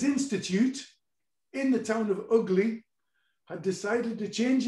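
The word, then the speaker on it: Ugley: i'm sorry ugly where i come from that's pronounced ugly um and i played there again recently just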